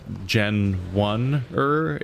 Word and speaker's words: Genwunner: Like, they've made up a weird made up like thing that is like, it's still pronounced the same way as Gen 1er, but it's spelled bizarrely so they can make